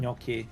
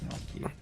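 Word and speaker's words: gnocchi: it is it like that or Noki. It's pronounced Noki.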